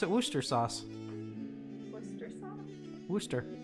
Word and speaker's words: Worcester: Why do we pronounce it Worcester sauce? Worcester sauce? Worcester. Worcester.